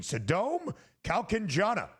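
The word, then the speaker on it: Sadom Kaewkanjana: Sadom Kalkanjana of Thailand Wow. is 3 under through 10. And I appreciate our producer extraordinaire, Joe Frieso, for finding out that pronunciation. Sadom Kalkanjana, 3 under par through 10 holes.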